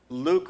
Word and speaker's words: LUCC: And in my view, LUCC, which I've always pronounced like, I'm your father and not luck, like of the draw.